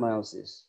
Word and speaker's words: মায়োসিস: পরবর্তীতে গ্রিক মূল শব্দের মিও আম বা টু লিসেন এর উপর ভিত্তি করে বানান করা হয় মায়োসিস, উচ্চারণ মায়োসিস। এখানে শব্দটি মায়োসিস হিসেবে উচ্চারিত হয়।